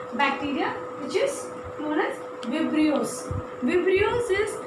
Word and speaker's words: Vibrio: Okay, so Vibrio, many people say like Vibrio, or but then like correct pronunciation is Vibrio.